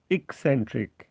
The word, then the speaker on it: eccentric: eccentric ভেঙে ভেঙে যেভাবে সিলাবল ভাগ করে আপনাকে উচ্চারণ করতে হবে ইক সেন্ট্রিক, এক্সেন্ট্রিক। এখন দেখেন এখানে উচ্চারণটা সিম্বল দিয়ে লিখে দিয়েছে ইকসেন্ট্রিক। এই কের পরে একটা শ্বাসাঘাত আছে, স্ট্রেস।